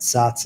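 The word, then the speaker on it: Saaz: that's sa a Z I've heard it pronounced a lot of different ways but sots is typically what I go with and when you read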